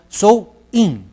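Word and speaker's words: Samhain: un festival conocido como shangay in que se pronuncie pronuncia show in que significa el fin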